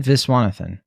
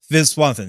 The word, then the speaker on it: Viswanathan: their screen presence go Geraldine venezuel is that how you pronounce Geraldine viswanathan viswanathan yeah I her performance felt